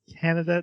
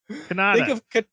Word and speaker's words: Kanata: Kanata. Think of katana, Kanata. but switch the N and the T.